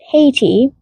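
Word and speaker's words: Hati: and Haiti, pronounced haty, but one who hates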